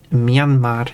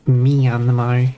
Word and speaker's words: Myanmar: And also it is Myanmar, not Myanmar. It's 2 syllables. It's Myan like a cat, but maybe kind of like a cat.